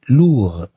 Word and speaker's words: lourd: L-O-U-R se prononce lourd.